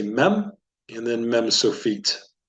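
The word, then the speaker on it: מם: and this is the mem can you say mem is pronounced like the m in the English word magnet or we could say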